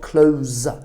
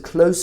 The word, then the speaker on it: close: word close it's not close careful with that because close is the verb form of this so it's a close friend a friend that